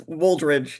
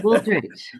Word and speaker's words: Wooldridge: Morris, it's Wooldridge. He has a D. There's a D in there. Wooldridge.